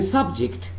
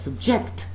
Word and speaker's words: subject: When I say subject, that means the word I'm using is a noun. And when I'm pronouncing the same word as subject, that means I'm using this word as a verb.